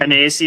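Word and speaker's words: anise: Um Anaas is how you say it.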